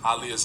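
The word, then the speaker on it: Aaliyah: Even Ananda got tired of people pronouncing Aliyah's name. I do too. It's Aliyah.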